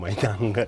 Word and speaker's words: Mayang: I always pronounce it wrong, Mayang.